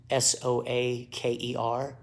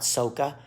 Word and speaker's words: soaker: get a soaker hose s-o-a-k-e-r soaker not soca it's called soaker that's how it's spelled you put it about